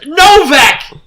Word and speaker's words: Novak: Because it's Novak.